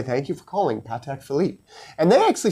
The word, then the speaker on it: Patek Philippe: And the same thing like yes, I know when you call them up they will say thank you for calling Patek Philippe.